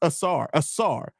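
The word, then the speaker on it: Ausar: It's pronounced Asar.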